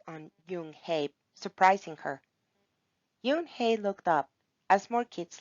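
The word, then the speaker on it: Unhei: no yoon hey corrected it's spelled u n h e i it's pronounced yoon hey oh it's yo hey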